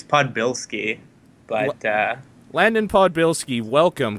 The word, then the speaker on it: Podbielski: up your last name that's usually how people pronounce it it's podbilsky but uh landon podbilski